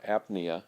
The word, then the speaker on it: apnea: So if pnea, P-N-E-A, means breathing, and the patient has apnea or apnea, is how that's pronounced, then we'd say they're not breathing.